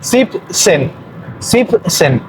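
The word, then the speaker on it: siebzehn: Aquí el 17 es 7, pero cortado. Sip, ahí se corta la terminación en 7 y solo se dice sip y luego se agrega el sen. Sip, sen.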